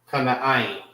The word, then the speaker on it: Canaan: That's how you say Canaan. Kana'ain.